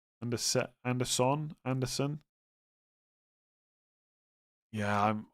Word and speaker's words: Anderson: As long as you say it with Sen and not son. Anderson. Anderson.